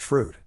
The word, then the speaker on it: Froude: Completion of all 3 works in the Super Victorian Head Charge qualifies you automatically for membership in the exclusive Froude Society, pronounced Froude.